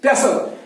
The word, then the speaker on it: pestle: अगर हम किसी वर्ड में पाएंगे STLE, तो उस वक्त उसका T जो होता है वो साइलेंट रहता है। यहाँ STLE आ गया तो इसका मतलब है T साइलेंट रखेंगे। It means that we have to pronounce it pestle.